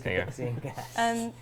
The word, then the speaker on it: Cathixian Cache: Is Cathixian Cache.